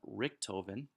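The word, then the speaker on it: Richthofen: time in fact we have baron ron von Richtofen his last name is spelled RI CH th Oh Fe n he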